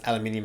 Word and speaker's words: aluminium: i hate the fact they pronounce aluminium as aluminum aluminum what cast iron you